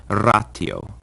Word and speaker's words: ratio: The T also always sounds like our basic T sound like in time, and never like a sh or a ch, as sometimes happens in English with ratio. In Latin, that word is pronounced ratio.